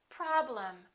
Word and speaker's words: problem: Look at the EM of the word problem. The first syllable is stressed, and the EM will sound exactly the same as the AM of the word madam. Listen, madam, problem. This is and this is also because they're both reduced syllables.